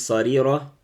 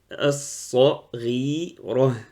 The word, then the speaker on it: صغيرة: Donc, Inch'Allah, prenez votre temps pour prononcer la lettre Rain. Donc, le problème il est là. Soit ils disent sarira, soit saghira. Donc, ils ont du mal.